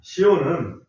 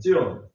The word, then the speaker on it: 시온: 시온은 예루살렘을 지칭하는 이름이다 이렇게 볼 수가 있습니다. 시온이라고 하는 말을 히브리 발음으로 제가 이렇게 찾아보니까 찌온이더라고요. 조금 비슷하죠? 시온, 찌온 비슷합니다.